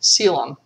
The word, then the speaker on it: coelom: And I have seen in a few places where people suggest that you pronounce, because normally we pronounce this the C in coelom like an S, coelom.